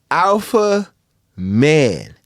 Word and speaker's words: Alpha$Man: say anything except for, it's Alpha Man. The $ is silent because it's not your money to talk about.